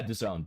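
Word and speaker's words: DAZN: Dea DN can't remember how to pronounce it. Contracted. Yeah, Done.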